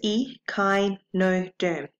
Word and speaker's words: echinoderm: Now, how you pronounce this word is echinoderm.